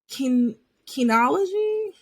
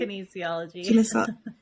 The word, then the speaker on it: kinesiology: She has an in-depth background in the MMA world and industry, along with a bachelor's of science in kinology. Am I saying that right? Kinesiology. Yep.